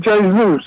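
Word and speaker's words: Jesús: Uh J the uh J is pronounced with an H in Spanish. Okay. Right. Spanish. Yeah. They pronounced they pronounced it Jus.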